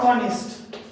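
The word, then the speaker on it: honest: saint letter বা উজ্যবর্ণ এরকম অনেকেই আছে যেমন অনেস্ট তাহলে অনেস্ট এইচ কে উচ্চারণ করছি এইচ বাদ দিয়ে পড় তাহলে অনেস্ট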